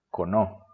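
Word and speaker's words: この: estos son con no De nuevo se acentúa en la segunda sílaba con no sería este y es cercano a la persona que habla cono Tenemos también sonó y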